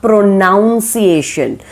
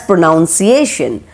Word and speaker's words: pronunciation: It is not pronunciation. Normally we are getting confused with pronounce and pronunciation, right? And we are calling it as pronunciation, but it is pronunciation.